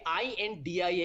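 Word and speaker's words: I.N.D.I.A.: By the way, i.n.d.i.a is pronounced as India for the benefit of some of your panelists who are so paranoid.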